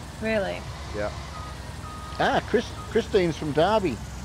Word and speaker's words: Derby: Derby, for a dyslexic person, is spelled D-A-R-B-Y. Because that's how it sounds. Yeah. But in real life, just to mix us up, but to put an E in it instead of an A.